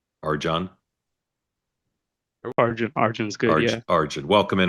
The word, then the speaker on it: Arjun: Is your name correctly pronounced Arjun? Arjun? Arjun's good.